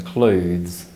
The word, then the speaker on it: clothes: the south of England this pronunciation is a homophone of the word cloves so make sure you